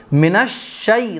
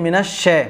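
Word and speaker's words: من الشيطان: اعوذ باللہ باللہ باللہ نہیں باللہ۔ آگے دیکھیے منش شی تا منش منش، بعض لوگ اس کو پڑھتے ہیں منش شے، منش شے نہیں منش شی، اگر آپ اس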